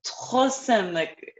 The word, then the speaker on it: troisième: The S almost always is pronounced like a Z when it's between two vowels. J'ai une troisième. Voilà. J'ai une troisième excuse. Troisième. Voilà. And the OI is always a wa. It's like WA, right?